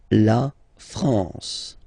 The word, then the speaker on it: France: A-N here, nasal en. La France.